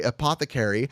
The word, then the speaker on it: Apothecary: stupid no you're not Apothecary is pronounced by the way Apothecary and it is your